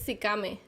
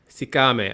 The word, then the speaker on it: Sikame: How do you pronounce it? I just want to make sure I say it correctly. It's Sikame. Sikame.